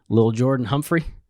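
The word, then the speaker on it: Lil'Jordan Humphrey: Lil Jordan Humphrey?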